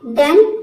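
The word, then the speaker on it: done: तो ये कुछ वर्ड्स है, जैसे कि देखिए यहाँ पे सम, नन, डन, लव।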